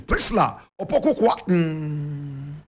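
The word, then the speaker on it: Priscilla Opoku Kwarteng: Correct pronunciation, Priscilla Opoku Kwatin.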